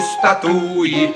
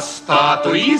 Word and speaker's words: статуи: будет секретом для ребят что в парке не статуи а статуи стоят А если вы в